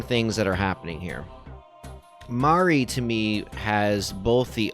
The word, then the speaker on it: Mari: And she also shares a similar name to them, just more of the Japanese pronunciation of Mary, Mari.